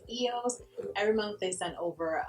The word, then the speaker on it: eos: A lot of people mispronounce that and say EOS, but it's really pronounced EOS.